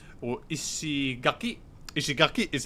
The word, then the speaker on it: Ishigaki: And we're going to be taking a 2-hour flight down to a place called Ishigaki. Or Ishigaki. Ishigaki is how you pronounce it.